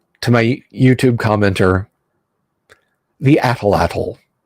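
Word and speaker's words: atlatl: my YouTube commenter the athletol I don't care if the last L is silent it's fun atlatal blow guns caltrops so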